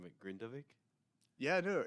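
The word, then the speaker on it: Grindavík: on and I hope I don't butcher the pronunciation with grindavik yeah I know it's grindvik or it's like grind ve gav yeah yeah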